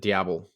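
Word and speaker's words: diable: do you pronounce it diao diao Diablo Diablo well it's d i a b l e so it's not it's not Spanish it's French it's the French version of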